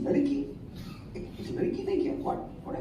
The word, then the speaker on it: Ladki: You know, so in mind, it's not like Ladki, it's Ladki. That is how I pronounce it in my mind, and you know, that might not come in the just to see the logo.